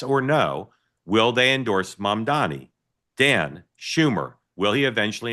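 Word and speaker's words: Mamdani: By the way, when people hear me say it, and you don't think I'm saying it right, it's my Maryland accent. I know exactly how to say his name, Mom Donnie.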